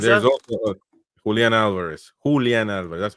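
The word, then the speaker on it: Julián Álvarez: Julian Alvarez.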